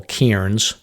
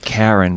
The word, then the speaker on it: cairn: And then there's what we call cairns. Did I pronounce that correctly? I believe so. Pronounce that. Yeah, cairn. So those are big stacked rocks that mark the trail. Not Karen, but Cairn.